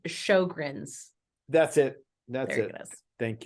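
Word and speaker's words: Sjögren's: rate back to a normal level okay it's Sjogren's that's it that's it thank you I don't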